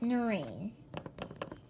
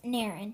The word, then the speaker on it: Naren: by thirty appointment yes Noreen its Naren oh I'm so sorry Noren said it's Naren oh